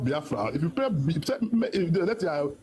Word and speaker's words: Biafra: If you say Biafra, it's not Biafra.